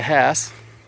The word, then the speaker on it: Hass: So, right there is the Hass. So, pronounced with the H in front of kind of like a donkey and or or actually green grass.